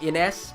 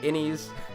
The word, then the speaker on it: Innes: I think it's actually pronounced Ines, but I don't know, I'm just going to be old school and say it the way I've always said it, Innies, like an innie belly button, but okay.